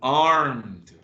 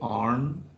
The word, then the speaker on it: armed: Armed. Be careful with the pronunciation of ed. Armed.